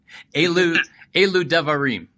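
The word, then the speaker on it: אלו דברים: rabbis, and it's the Elu Devarim. Am I saying that correct or near correct? That pronunciation was perfect. Well, then let me say it again, but a drum roll this time. Elu Devarim.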